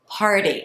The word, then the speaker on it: party: speakers to pronounce is party it is a difficult word right so let's just say the word par par like park park right par par that's